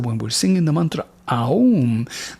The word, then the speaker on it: Aum: Master Samael says that when we're singing the mantra Aum, that we should pronounce it Aum. Because when we use the letter A, that it allows for the vibration of the thymus gland.